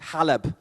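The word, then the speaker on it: حلب: And I told him, look, Aleppo in Arabic, we pronounce like Halab.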